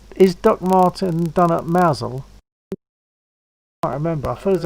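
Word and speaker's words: Mousehole: It's spelled as mouse hole, but it's pronounced Mousel, and it is a very nice little place in Cornwall.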